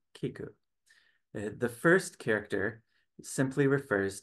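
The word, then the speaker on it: 聞く: he points out that Japanese has two different characters to write listen even though they are pronounced the same way Kiku the first character simply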